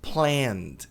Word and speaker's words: planned: Joga fora, joga esse e no lixo na pronúncia, né? Planned e não planed.